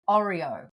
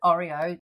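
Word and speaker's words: hórreo: That was to show us an Oreo uh which is spelled with a H but it is not pronounced and it's like the pronounced the same as the biscuits Oreo.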